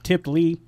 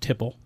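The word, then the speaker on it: tiple: We were calling it tipply. We didn't even know how to say it. Right. So she took it home, did the research, right? Finds out, you know, it's pronounced tipple.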